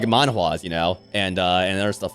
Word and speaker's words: manhwa: And Chinese to an extent because of, like, manhwas, you know? And other stuff like that. Manhwa. That's how you pronounce it.